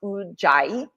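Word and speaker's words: Ujjayi: So ocean breath is also known well it is ui pranayyama in Sanskrit and it's pronounced udai and ui means to be victorious or to gain mastery over.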